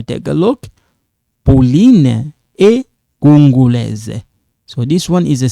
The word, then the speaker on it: congolaises: Pauline et Justine sont congolaises. Pauline et Justine sont quinoises. Okay? So when you take a look, Pauline est congolaise. So this one is a silent, but you write it.